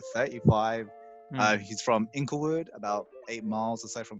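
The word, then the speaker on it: Inglewood: habit um include wood or as i as i pronounce it the first time to you ankle wood so yeah d smoke he's a rapper he's like 35 uh he's from inklewood about eight miles aside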